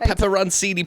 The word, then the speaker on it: pepperoncini: I need pepperoncini peppers, please.